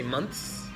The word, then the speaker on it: months: Jinyoung I just heard be careful with the pronunciation of monks you don't have to stress the S to say like month this just say months like connect them months like that and also you mentioned